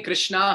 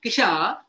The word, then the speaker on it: Krishna: attention he pays attention when I say Kish or or k Krishna is not obliged to hear me unless I can't unless I'm from China and I can't pronounce R in which case Krishna fully accepts because Krishna is bag janardan but considering all of you 96 on zoom and few more on YouTube are Indians who can pronounce R we should say Krishna proper pronunciation we are